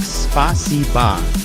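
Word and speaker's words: спасибо: to the phrase spasiba It's pronounced like spasiba and means thank you in Russian I don't quite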